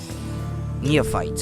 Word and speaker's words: neophyte: the Korean channeling technique and neophyte neofit or near fight how do you how do you pronounce that hold on uh Neo fight or something like that Neo fight pronunciation but no not in French near fighter no is that it in American English can't find okay near fights neophytes okay that's how you pronounce it a neophyte protection practitioner